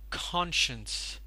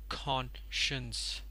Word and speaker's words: conscience: word is pronounced as conscience so the stress is taken by the first syllable and it is pronounced as conscience conscience the meaning of this